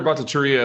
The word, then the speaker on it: Bhattacharya: and thanks for holding this hearing uh dr bhattacharya if i could first of all am i pronouncing your name right just fine thanks goodbye